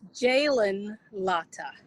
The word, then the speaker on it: Jalen Latta: He is It is Jalen Latta. I was close. It's just the word, the emphasis, which syllable you put the emphasis on, But he is a